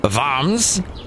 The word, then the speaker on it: Worms: and i believe it's north of bombs which is spelt worms and i went there with